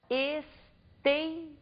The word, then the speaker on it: esteira: nós temos na lousa a palavra esteira observem que nós pronunciamos com maior intensidade a penúltima sílaba da palavra por isso consideramos a